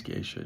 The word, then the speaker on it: Geisha: um got respelled to be like the Japanese gisha GE i s ha some companies still spell it GE ha they're both the same thing